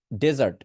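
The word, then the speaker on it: dessert: তো যখন আপনি মরুভূমি বোঝাবেন, ডেটাকে জোরে উচ্চারণ করবেন, ডেজার্ট, ডেজার্ট, ডেজার্ট, ডে, ডেটাকে জোরে উচ্চারণ করবেন। বাট এই জায়গায় আমার যে ডাবল এস দেখতে পাচ্ছেন, এটা হচ্ছে মিষ্টান্ন জাতীয় খাবার, এই জন্য ডাবল এস দেওয়া।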